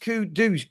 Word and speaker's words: Kudus: Kudos pronounced kudus kudus.